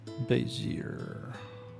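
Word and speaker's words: Bézier: How to pronounce basier? Basier. Yeah, I was right.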